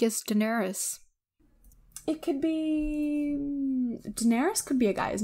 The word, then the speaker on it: Daenerys: Actually, some people say Daenerys, but it's widely pronounced as Daenerys.